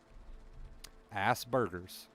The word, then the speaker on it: Asperger's: just taught me something mint just taught me how to pronounce that word in a way that i can understand and now i want to say it all the time ass burgers perfect if you sit down